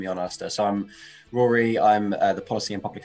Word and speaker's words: Rory: i'd like to welcome from the trestle trust thanks for joining us sorry i've got your name wrong haven't i rory for you um perhaps